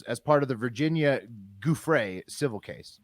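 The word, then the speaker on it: Giuffre: virginia gouffrey civil case pat how do you say that uh jeffrey guthrie it's like uh like the the mascot for toys r us guthrie joffrey yeah okay um that's civil case g-i-u-f-f-r it's jew-free like as when moses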